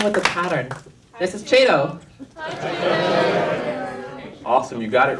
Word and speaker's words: Chiedo: It's Chiedo like tornado.